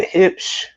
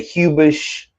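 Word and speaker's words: Huebsch: uh under the the hips I know it's h u e b s h I used to say hubish but it's it's German and it's pronounced hip so if you want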